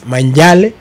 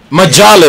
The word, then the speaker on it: Majale: Manjale. Majale, bro. Majale. That's what I said. That's what I said. The M is silent.